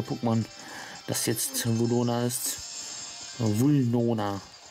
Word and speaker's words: Vulnona: Vulnona. Okay. Die ganze Zeit falsch ausgesprochen. Verdammt. Seit Jahren falsch ausgesprochen.